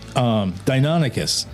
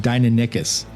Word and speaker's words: Deinonychus: Like, for instance, the longest time, Deinonychus. For the longest time, I didn't realize how that was pronounced. And I kept pronouncing it Deinonychus.